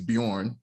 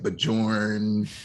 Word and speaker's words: Bjorn: o r n and the j is kind of like a y the way that you said it so people was like bajorn you know all type